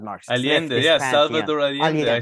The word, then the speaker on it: Allende: Allende, the guy who Kissinger did the coup against.